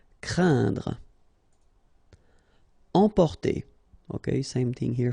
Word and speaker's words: craindre: So it's quite interesting here because you've got this combination of letters, so A, I, and then N, okay, so it will be a nasal as well, and then it will be pronounced like un, so keep in mind that it goes in your nose, so you don't hear any N when I pronounce it, and then C plus R will produce the sound cr, crain, craindre.